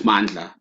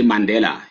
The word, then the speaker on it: Mandla: and ask me because he couldn't pronounce mandla he was used to say Mandela used to say to